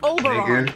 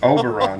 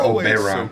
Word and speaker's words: Oberon: I keep telling you, it's pronounced Oberon, you know, like moron. It's Oberon, not Oberon.